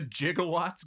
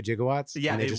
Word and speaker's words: gigawatts: going parac but they were supposed to do jigawatts looked up the word and they pronounced gigawatts jigaw they're supposed to do gigawatts oh my God that's funny watching all the